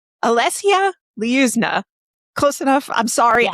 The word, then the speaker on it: Olesya Lyuzna: Yeah, Olesya Lyuzna. Olesya Lyuzna.